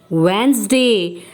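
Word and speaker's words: Wednesday: नो it's wrong the correct pronunciation in this वेनसडे आधे silent the meaning of what is the meaning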